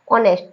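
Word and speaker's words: honest: एस टी वैसे तो ये दिखने में तो ऑनेस्ट दिख रहा है लेकिन यहां पर भी एच जो है वो क्या बैठा है चुप बैठा है और इसको अपन क्या पढ़ेंगे ऑनेस्ट क्या पढ़ेंगे ऑनेस्ट है तो एच ओ एन ई एस टी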